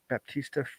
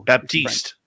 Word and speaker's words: Baptiste: forget how to pronounce, Baptista Frisk. Oh, Baptiste. Baptiste, thank you.